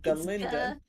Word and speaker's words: Galinda: that's what she called herself galinda Linda Linda the g is silent so you saw you